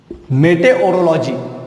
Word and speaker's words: meteorology: मेटेरोलॉजी यानी क्या होता है? मेटेओरोलॉजी, इसे कैसे पढ़ेंगे? मेटेओरोलॉजी, मेटेओरोलॉजी। तो शॉर्ट में मैं इसे कैसे कहता हूं? मेट्रोलॉजी। तो इसका प्रोनाउंसिएशन क्या है? मेटेओरोलॉजी।